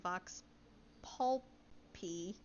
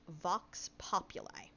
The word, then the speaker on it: vox populi: so it is pronounced vox populi uh like i i don't know how to like chunk it out more than that but like pop you lie and vox it's it's